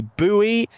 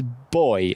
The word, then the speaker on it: buoy: You say buoy, it's boy, okay?